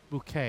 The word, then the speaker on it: Bucket: And there is the main character, one of the main characters, that keeps saying that the family name is spelled bucket as in Bucket, but she insists no, it's bouquet.